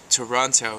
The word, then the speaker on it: Toronto: Canada I'm dispatching from Toronto which is a two- syllable word that actually should be pronounced Toronto so here you go